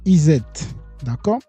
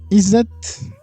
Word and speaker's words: ESET: ESET Je sais pas comment vous allez Moi, je le prononce ESET, ? Français. Parce qu'il y a E, il y a S et puis il y a E encore, S et au milieu de deux deux deux voyelles.